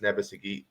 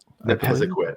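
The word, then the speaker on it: Nepisiguit: really good on this side of Bathurst, East Nebbesaget. How do you say that, Shawn? You pronounce it so much better than me. Nepesaquit.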